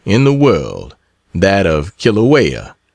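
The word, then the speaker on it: Kīlauea: the world, that of Kilawea, pronounced Kiloa, and from thence back to San Francisco, and then doubtless to the states.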